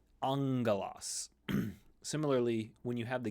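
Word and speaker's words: ἄγγελος: come across this occasionally when you have the gamma doubled it becomes an NG sound in English so famously the word Angelos where we get angel from the gamma gamma becomes NG angos similarly when you have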